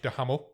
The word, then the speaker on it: Duhamel: This film was directed and produced by Josh Duhamel. Yeah. I checked how to pronounce his name, and that is how you pronounce it.